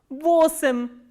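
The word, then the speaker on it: восемь: And how do we pronounce this word? Vosim.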